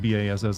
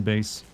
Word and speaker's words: bass: Bass is spelled with B-A-S-S, I think, right? It just my southern upbringing made me want to say bass, as in bass fish. Bass fishing, rather than base.